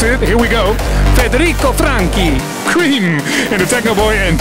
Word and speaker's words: Franchi: track and technoboy just told me how to pronounce it here we go federo franki in the Techno boy and tomb booy remix